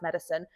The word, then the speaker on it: Metacine: It's a play on the word medicine, isn't it? So Metacine, and it's pronounced medicine.